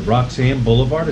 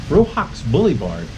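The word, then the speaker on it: Roxas Boulevard: that what is it Roxanne Boulevard is that the name of Roxanne rope Doha Qatar was Roxanne I pronounce it wrong robots said I row Hawks Boulevard what's correcting me I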